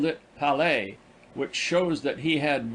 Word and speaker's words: Palais: I visited the Palais, pronounced Palais, which was burned by the Prussians in 1870.